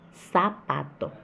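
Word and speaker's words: zapato: O S e o Z têm o mesmo som, que é de sapato. E sapato se escreve com Z. Sapato.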